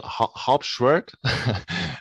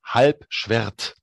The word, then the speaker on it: Halbschwert: know we we we call it not harpshwerk it's called hype schweitz oh we laugh at